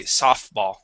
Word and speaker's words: softball: word softball so um that t in that word is going to be silent we say softball uh softball just like